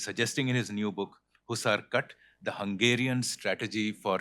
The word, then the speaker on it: Hussar: How's it pronounced? Hussar or Hussar? Hussar.